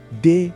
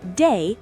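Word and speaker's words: dey: Day na the foundation of Pidgin. You go use them for almost every sentence. It's pronounced like the English word day, but with a tiny eh sound at the end.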